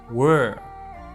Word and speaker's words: were: differently I should say the first word were were the second word we're